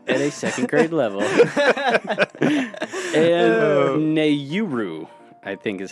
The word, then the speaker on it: Nauru: And Nauru, I think is how you say it. Or So Nauru? Nauru.